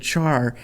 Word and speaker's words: char: A lot of people will say, um, you know, it should be pronounced care because it's short for character. And I tend to agree with that, but so many people that I work with have said char uh, and I've been programming for way too long.